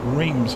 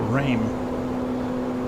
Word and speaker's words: Reims: on our way to Reams or rain depending on which country you come from and how you pronounce it so we've got a